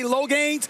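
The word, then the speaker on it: Loggains: the new offensive coordinator I think it's low gains or lgin how you pronounce it it's g a i ns so I'm going to say l gains he's the new offensive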